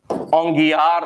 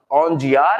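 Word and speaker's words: Aungier: अब ये ग की जगह अगर ज भी आ जाए ना तो ये प्रोनाउंसिएशन की बात है। English is very funny language. पीयूटी पुट, बीयूटी बट, आप जानते हैं बुट नहीं होता है। वैसे ही ग या ज, ओंजियार या ओंगियार एक ही बात है।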